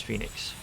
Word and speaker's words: Phoenix: I looked at the, I spent some time looking for pronunciation and found that with modern Greek pronunciation, it is Phoenix.